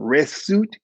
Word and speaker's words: rswt: It was called resut qued. So we would spell it in English RSWT. Let me put it on here. RSWT and then QWED.